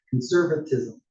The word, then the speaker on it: conservatism: I wanted to add an extra syllable there that wasn't there. Conservatism.